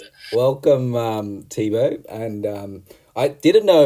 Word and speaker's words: Thibaud: So, what I've done is I've actually asked Google to help me pronounce T H I B A U D. So, I don't slaughter it. Tibo.